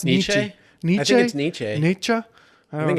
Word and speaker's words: Nietzsche: Friedrich Nietzsche I never had how do you pronounce nisha Nietzsche Nietzsche I think it's an EJ the cultured